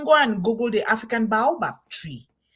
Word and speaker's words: baobab: You talk about the African baobab.